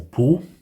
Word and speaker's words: Powell: This is Powell, or Paul, depending on how you pronounce it.